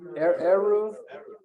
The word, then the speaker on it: Eruv: And not just that, getting preferential treatment for, how do you pronounce it? Eruv or Eruv? Eruv, which it seems so silly, doesn't it?